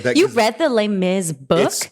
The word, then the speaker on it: Les Mis: way and the the Les Mis I should stop saying Les Miserables but like I do speak French so I do want to say it properly Les Mis because because I